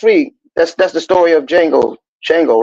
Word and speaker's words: Django: And Shango was the Django. But Django. remember the movie? Hold on. Mhm. He said Shango, the Django. What he say? The D is silent.